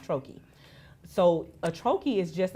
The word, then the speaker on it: troche: e some people you may hear them say troes or something like that but it's it's actually pronounced Troy so a Troi is just a little square